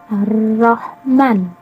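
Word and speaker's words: الرحمن: Ar-Ra. Arro, bukan alif lam ro. Arro. Nah, di sini juga ada alif lam yang kedua yang bertemu dengan ro. Yang pertama Ar-Rahman, yang kedua Ar-Rahim.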